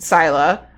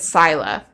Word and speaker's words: Scylla: So did I think it was said Scylla. Okay. Or Scylla. Is it pronounced Scylla? Oh, Scylla. I can't read. Holy. I can't read. Like syllabic.